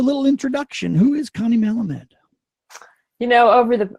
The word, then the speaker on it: Malamed: introduction who is Connie Melamed you know over the I actually pronounce my name but it's okay because everyone says it differently you tried your butcher